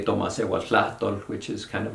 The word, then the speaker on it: Tomasewaltlahtol: And others they would say Tomasehuatlahtol, which is kind of like our indigenous language. I don't know how to translate it exactly, but That's where it beautiful. goes. Yes. Tomasehuatlahtol? That was horrible. Tomasehuatlahtol.